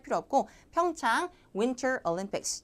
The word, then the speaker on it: 평창: 평창 가지고 그 발음을 뭐 하루 종일 연습하신 분들이 있는데 그 지명이나 그 고유명사 같은 것들은 발음 신경 쓰지 마세요. 그냥 한국어처럼 하시면 돼요. 자, 평창 이렇게 할 필요 없고 평창 Winter Olympics.